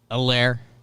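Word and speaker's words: Helaire: sense uh clyde edwards a lair i kept pronouncing the h because there is an h an age of the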